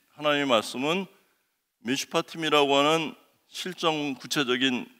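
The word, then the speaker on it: משפטים: 이건 판단하다, 분쟁을 조정하다, 심판하다 뭐 등등의 뜻이 있는데, 이 샤파트라고 하는 것에 접두어 맴을 붙이고 이 부분에 또 복수형 이거를 넣어주면서 미슈파팀이라고 읽어요.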